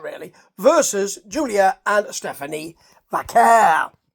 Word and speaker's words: Vaquer: Versus Julia and Stephanie Vaquer. That's how we're saying it now. Vaquer. Finally, I got a steer on how to say it. That's the way Vic pronounces it, and I'm going with Vic.